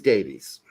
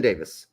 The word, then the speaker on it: Davies: then on the right is Davies or Davis excuse me Ben Davis from Tottenham Hospers and it is spelled like Davies though okay thank you I'm